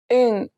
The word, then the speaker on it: 응: 응, 응. The first one worked as a placeholder, and the second one had an NG sound.